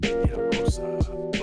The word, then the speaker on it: Hiromasa: Hiromasa. Did I pronounce him correctly?